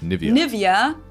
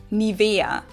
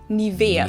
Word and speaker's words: Nivea: English native speakers usually say Nivea. Nivea. In German, we say Nivea. Nivea. So, the emphasis is on the e.